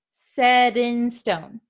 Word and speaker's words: set in stone: Okay, so we often change the pronunciation of the T, and that's why it sounds like we're talking really fast. Set in stone, set in stone. Okay, you can't really hear that T sound here.